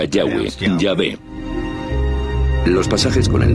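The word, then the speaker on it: Yahweh: íntimo y personal que normalmente se pronuncia yahwe yah los pasajes con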